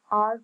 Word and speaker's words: hour: Number two, their car runs 150 miles an hour. So here H is consonant sound but the word R pronounced with the vowel sound R.